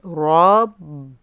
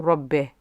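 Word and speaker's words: رب: the bear costume and again it's rhyming with e not ba and it's not a rugby it's rob b and then we move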